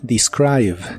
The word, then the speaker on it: describe: presente de inglés es describe la primera e se pronuncia como i pero la i latina se pronuncia como I describe describe Recuerda que la